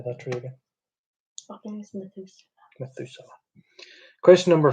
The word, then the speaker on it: Methuselah: Methuselah.